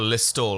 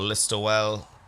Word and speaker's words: Listowel: I went into Kerry, a place called Listowel or Listowel. Listle. They probably pronounce it a little bit different.